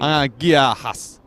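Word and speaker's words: Γεια σας: I think it might be a hard G. Oh, okay, how are you going? You're going... Giahas. Oh, that did sound better.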